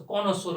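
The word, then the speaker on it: connoisseur: जिस तरह से रोंदोबू था, स्पिग्नो मैनोमीटर था, उसको कॉनोसोर बोलते हैं।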